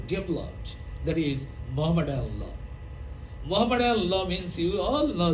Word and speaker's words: Muhammad: Muhammad law means you all know that this terminology used by the English people. They do not pronounce Muhammad but Mohammad.